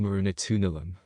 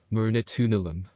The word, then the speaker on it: Marunatunilam: in the next one this is pronounced mourinho tunalam mourinho tunulum everyone who joins the audien